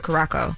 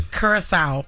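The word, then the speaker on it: Curaçao: March of 1998 on a cruise uh to Carco. Now, how long has this been? Kurissau.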